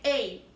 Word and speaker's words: a: antes de continuar em alguns falantes da língua irão pronunciar a e outro para você pronunciaram é Ei tá então não fica corrigindo